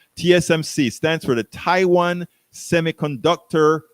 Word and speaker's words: TSMC: China stops TMSO. Oh, I better look up that. I wrote it down because I knew I was going to say it wrong. TSMC stands for the Taiwan Semiconductor Manufacturing Company.